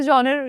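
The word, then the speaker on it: genre: love to be actors कौन से जॉनर या जॉन्रा मुझे आज तक पता नहीं इस वर्ड को प्रोनाउंस कैसे करना है डेफिनेटली थ्रिलर ओ जॉन होता है कि जॉन होता है John thank you you taught me नाउ नाउ I will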